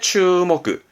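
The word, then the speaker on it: 注目: 그래서 주목의 추목그.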